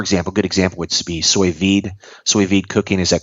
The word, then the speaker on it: sous vide: good example would be sous vide cooking. Is that correct? Yeah, Did I mispronounce? Sous vide, yeah, sous vide.